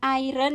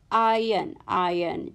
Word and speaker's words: iron: sini ada I and perhatikan disini cara bacanya bukan Iron ya tapi adalah ayun-ayun Jadi kalau superhero itu bukan Ironman tapi yang benar harusnya Ian I Max question number six